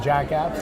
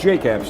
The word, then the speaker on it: Jake Apps: So I'm Fred Jacobs, Jacobs Media, and Jack Apps as well. Yes, Jake Apps, actually.